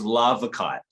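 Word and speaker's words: larvikite: um that kind of work is known as lava kite which is spelled l-a-r-v-i-k-i-t-e sometimes also known as um norwegian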